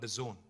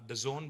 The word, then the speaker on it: DAZN: Next is another very interesting and exciting company called The Zone. It is pronounced The Zone, but it's spelled D-A-Z-N.